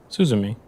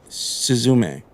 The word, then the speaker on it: Suzume: beautifully done unless am I saying it wrong sus me yeah yeah I'm sure right I'm I haven't watched it myself but no suzume Suz the K I speak a Spanish oh